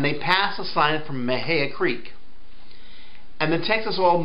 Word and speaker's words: Mexia: the Dallas man says oh yeah yeah they pronounce it Maha not Mexia and the New Yorkers says listen we call